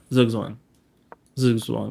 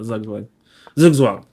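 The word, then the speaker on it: zugzwang: how can I force zwang zwang that's how it's pronounced not zugang zwang how can I force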